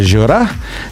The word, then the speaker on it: Gjura: we're back with jorah now i'm pronouncing your name correct right i'm pronouncing your name correct right yes okay i roll my r's i love it because i'm greek keep it uh and